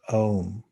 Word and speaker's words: Aum: ancient yogic test texts is spelled aum or pronounced om this brings a spiritual